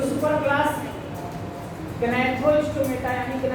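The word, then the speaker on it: Gnathostomata: ये जो super class गनाथ स्टोमेटा यानी था मतलब माउथ अब कुछ लोग इसको ने थो स्टोमेटा कहते हैं कहते हैं कि जी एब्सेंट साइलेंट है ट नहीं हैथ ये अब आपका एक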